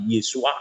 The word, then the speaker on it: Yesua: Kalau orang Yahudi sana ya pasti Yesua Amasyah. Yesua, bukan Yosua, beda ya.